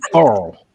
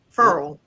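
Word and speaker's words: Ferrell: It's actually Farrell. Yeah. Cleveland Farrell. Yep. Farrell. Like referral. Making a referral. Feral cat.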